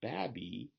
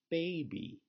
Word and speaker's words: baby: So in the word baby, we have a long A, not babby, but baby.